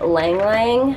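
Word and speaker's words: ylang-ylang: This is the coconut oil and Lang Lang. I think that's how you say it. It's got the Y. It's like Ylang Ylang, but I think it's Lang Lang, I'm pretty sure.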